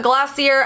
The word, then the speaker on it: Glossier: we have something from glossier again this is how google says it's pronounced yell at google not